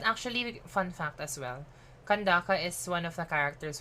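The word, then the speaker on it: Candace: do like an kandaki it's kandakapala it's kandaka fun fact that's how they pronounce it there it's kandaka I haven't used Sino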